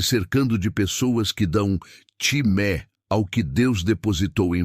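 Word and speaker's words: τιμή: Quando damos timé, honra a um ungido de Deus.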